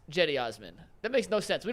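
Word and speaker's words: Cedi Osman: Number two, that CD Osman's name is pronounced Jetty Osman.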